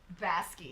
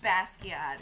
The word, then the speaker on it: Basquiat: this is like some Basquiat should not excuse me vaski you ask you mean it's Basquiat it's like Bono well alright